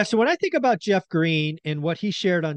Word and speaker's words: Greene: when I think about Jeff Green and what he shared on CNBC people can go look it up by the way green has an e on the end it is silent so if you look